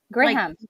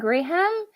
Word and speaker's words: Graham: like I mean it's you're saying it the way it's spelled gram but it's actually uh so I think Graham is the the the name so a dude would be called Graham okay see here in